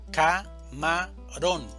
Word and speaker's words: camarón: Camarón, división silábica. Camarón. Sílaba tónica. Ron. Camarón.